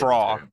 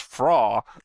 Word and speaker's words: Frau: Fra. That's how I keep Fra. pronouncing it. Fra. It's with a W sound.